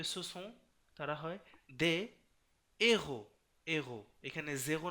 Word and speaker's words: héros: যেমন ধরুন devant à h aspiré, তার মানে কিছু কিছু সময় এইচটাকে মানে উচ্চারণ করতে হয় না, বুঝেন নাই? যেমন ধরুন ce sont des héros, normally আপনি কিন্তু এখানে পড়তে হয়তো ce sont des zéros, অনেকে পড়ে যে ce